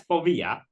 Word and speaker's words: Phobia: Okay, so that's Povia. I hope I'm saying it right. You are rightish Greeky accent on the later syllable.